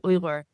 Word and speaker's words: Uyghur: It should be pronounced as Uyghur. Uyghur. Uyghur. Mhm. Is that correct? Yeah, Uyghur, that's correct. So Uyghur. the GH actually is like a coming from your throat.